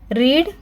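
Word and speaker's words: read: एंड कुछ होते हैं जिसमें स्पेलिंग तो सेम होती है, तीनों फॉर्म्स में वर्ब की स्पेलिंग सेम होती है, लेकिन हम पढ़ते टाइम उनको प्रोनाउंस डिफरेंटली करते हैं। रीड, रेड, रेड।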